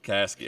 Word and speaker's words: Caskey: Caskey, okay, gotcha.